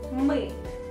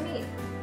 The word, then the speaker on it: мы: that is weak and here we have a very intricate Russian vowel that is Russian Learners usually have some problems with pronunciation of that vowel what can I suggest to you keep practicing and don't forget to repeat after me just smile and say it me May May the next